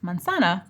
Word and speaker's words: manzana: Spanish word for apple, you have to know the phonemic rule that the letter Z is pronounced like an S in Spanish. Otherwise, you won't pronounce the word right.